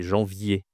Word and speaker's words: janvier: janvier, c'est difficile. C'est difficile parce que tu as une nasale ici, jean en d'accord et tu as une semi-consonne. Y y est, d'accord ? C'est pas janvier, c'est janvier. Janvier, d'accord ? C'est assez difficile.